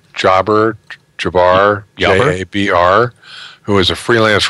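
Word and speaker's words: Jabr: How do you pronounce his last name? Jabbar, J-A-B-R, who is a freelance writer and an associate editor for Scientific American.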